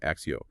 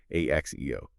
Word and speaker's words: ACCEO: It's written in all caps, ACCEO, but just so we're clear, it's pronounced Axio, Axe EO, right? And if we mention Logivision, that's Logi Vision. Log Vien. Got it. Axio and Logi Vision.